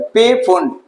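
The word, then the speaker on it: Pfund: पी फुंड, पी फुंड भी कह सकते हो या फुंड बोल दो, पी साइलेंट रहता है।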